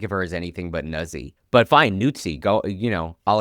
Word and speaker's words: Nuzzi: birthday is January 6th, it's Nuzzi phonetically, which sounds wrong. Yeah, I can't think of her as anything but Nuzzy.